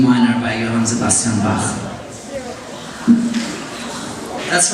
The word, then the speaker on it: Bach: That's right, and you know, because I'm from Germany, I know how that name is pronounced, Bach. And some people here say Bach, but if you go to Germany and you ask for Bach, they'll give you a deodorant, roll on.